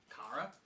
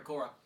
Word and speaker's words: Kara: You could have sworn you saw, Kara. Sorry, Cora. Kara. You said it right the first time.